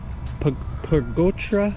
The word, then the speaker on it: Pargotra: Pargotra? How do you say last name? Yes, exactly. Pargotra. You're probably the first one to get it right.